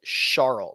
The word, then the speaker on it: Charl: Actually, correctly, if you want to pronounce it correctly, it's Charles, like shark. So Charles Schwartzel.